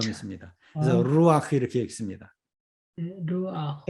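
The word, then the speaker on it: רוּחַ: 루아흐. 루아. 자, 여기서 이건 앞의 원칙과 연결되어 있습니다. 이 후음은 그 앞에 아음을 갖는 경향이 있다. 아음을 갖는 경향이 있죠. 근데 지난 시간에 어떤 얘기냐면 루흐 이렇게 발음해 보라고 그랬습니다.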